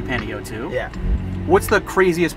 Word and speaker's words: Panayotou: first of all I want to make sure I'm pronouncing your name right Penny O2 yeah too okay because I've heard so many different ways of season we get Penny U2 pennyatu Penny yetu it seems like it should be panio too yeah what's the craziest